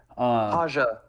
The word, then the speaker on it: Haja: Haja, not Raja.